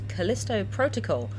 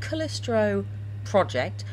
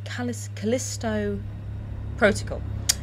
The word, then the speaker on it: Callisto Protocol: merely many many times it's a Callisto protocol not callistro project not calipo protocol but Callisto protocol which is uh by